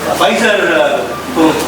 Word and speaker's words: Pfizer: When you when you take the Pfizer vaccine, the P IS SILENT ONLY."